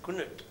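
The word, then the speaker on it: Knut: J and K nut I understand it's pronounced as kunut am I right yes there has been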